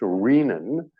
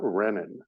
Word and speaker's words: renin: And I say renin because Lucher insisted that renin is pronounced renin, as in renal. It is not renin.